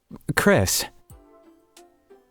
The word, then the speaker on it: Chrys: the sight of it Chris he really does have a nice smile the guy Shay his head at my name tag huh so it's pronounced like Chris but you spell it like chrysanthemum that's pretty sick oh that's